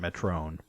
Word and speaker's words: Metron: It's spelled Metron. They pronounce it Metron.